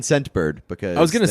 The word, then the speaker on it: Scentbird: Scentbird. What's it called? Scentbird. Scentbird? Scentbird. It actually says in the read here, emphasize the T in Scentbird because I was gonna say, name is difficult to hear.